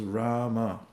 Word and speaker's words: Rama: samskars can be overcome by this very powerful mantra, 2 syllables, Rama.